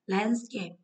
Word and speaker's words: landscape: Landscape trọng âm một.